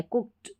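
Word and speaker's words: cooked: कुक्ड कुक्ड कुक्ड ड नहीं है। कुक्ड ट का साउंड आएगा अगर आप सही बोलेंगे तो यहां पर है वांटेड इड इड इसका उच्चारण है।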